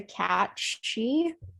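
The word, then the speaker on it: Cat sìth: called um i believe it's pronounced the cat she yeah like banshee yes basically yeah because it's not it's definitely not spelled like it sounds with bands it looks exactly like sif yes that's why i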